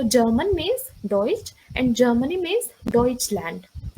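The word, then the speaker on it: Deutsch: आप उसमें जर्मनी बोलेंगे सो जर्मनी बेड आउटडोइच डोइच लंट लाइक हमें बस लास्ट में अपना ये ऐड ऑन करना है German bed बेडोइटेड means mills so German means डोइच and Germany means डोइच land can you please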